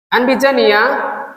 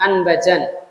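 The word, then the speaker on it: أنبجانية: Wahya bi fathil hamzah. Anbijaniyah ya, ini adalah dinisbatkan kepada suatu daerah dinamakan Anbijan. Daerah Anbijan berarti kain Anbijan. Dan ada yang membacanya dengan memfathahkan baknya, Anbajan.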